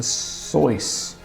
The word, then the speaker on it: Seuss: His name actually rhymes with sauce, so it's Dr Seuss.